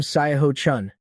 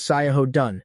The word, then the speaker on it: Sai Dun: This damn Sai Chun. Sweetie, that's Sai Dun. That character is pronounced Dun.